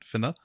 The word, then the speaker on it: Whina: When I was doing it's Fenna, like it's Whina, which would normally be pronounced Fenna, but Fenna Cooper herself pronounced it Finna, I think.